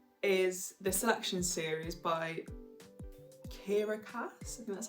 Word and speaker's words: Kiera Cass: read in january is the selection series by kiera cass that's how you say her name and i'm